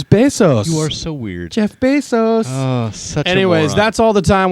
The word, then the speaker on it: Bezos: here so i'm so glad so congratulations jeff bezos our geek of the week i think it's spelled the same way oh it's not it's